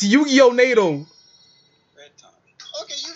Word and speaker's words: Yu-Gi-Oh: Yagimon. You gotta say it right. It's Yu-Gi-Oh.